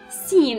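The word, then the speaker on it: سين: is like this then we have seen seen is like an else in English so it is and this is the shape of C then we have a letter which is similar to seen as a shape horse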